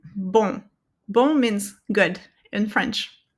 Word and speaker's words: bon: So you don't pronounce the N there. You're just going to pronounce um, um. Okay? Just like in bon.